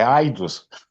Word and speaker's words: Aidos: É quase AIDS, mas não, irmão, é Aidos.